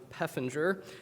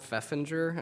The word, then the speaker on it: Peffinger: and control director robin peffinger the shelter manager turns out i've been mispronouncing robin's name for like five years so it's peffinger not feffinger i just realized that so